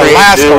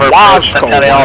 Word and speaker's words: Wasco: So, and then she said the Lasco 1, which is not the Lasco, it's the Wasco 1, which I just pronounced that.